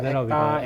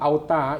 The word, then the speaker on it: ACTA: It's not auta, it's acta, ACTA, right? Yeah, acta. So you're allowed to conduct classes and write programs. You must have acta to become a trainer in Singapore for WSP programs.